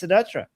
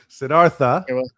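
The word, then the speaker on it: Siddhartha: So, the I think the American pronunciation is Sedartha. Um, but it's not an American name. It's an Indian name. and uh Indian people would say Sedart which is uh it's intense for like an an American to say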